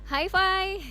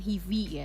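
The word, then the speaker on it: HIVI!: Hi-Fi, listeners bacanya Hi-Fi ya, bukan Hivi ya. Bukan, Hi-Fi tolong dong.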